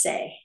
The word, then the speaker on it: Tse: there's one called say it's actually spelled TS e but it's pronounced say and that improves your